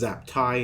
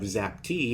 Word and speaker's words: Zaptie: every other commentator outro he prefers his name is pronounced zaptie instead of xacti if he is no